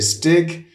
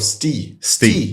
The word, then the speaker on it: Stig: it's actually both because in Sweden you say stick in Denmark you say Ste yeah uh so you I call myself Ste is the Danish that's how you pronounce it